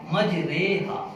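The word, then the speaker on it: مجراها: امالہ ہو جائے گا۔ اور اس کے ہجے کریں گے میم جیم زبر مج را امالے والی ہا الف زبر ہا مجریہا، میم جیم زبر مج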